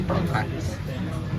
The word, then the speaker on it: tonkatsu: And we're getting this, it's called, I guess in Japanese it's called tonkatsu, but they don't pronounce the U by the sound of it, so they say tonkatsu.